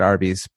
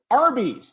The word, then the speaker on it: Arby's: But roast beef, literally, Arby's, their name is R, like phonetically, R and B, Arby's, roast beef.